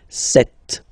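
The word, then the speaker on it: sept: Then here, remember, P is not pronounced. Okay, it doesn't exist, so you get this set sound.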